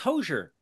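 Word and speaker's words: Hozier: I like but there's a lot of debate about how you say his name okay oh H Oz i e r who is that to you that's hoser that's what I said that's H people today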